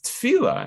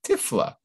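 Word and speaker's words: תפילה: And so they pronounce the words tachas tehila. Instead of the word praise, they put tachala, you know, illness, destruction. Tachas tefila, and instead of the word prayer, they put tifla, which means, you know, tiflis, like silliness. Or shem, so he'd be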